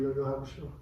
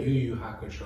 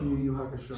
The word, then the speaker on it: Yu Yu Hakusho: I fully started Yo-Yo Hakusho. Oh yeah. Yeah. Yu Yu Hakusho. Yu Yu Hakusho.